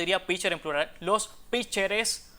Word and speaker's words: pitcher: eliminemos esa T, porque aquí se dice pitcher y no pitcher, o sea, esa T del medio no se pronuncia y por tanto las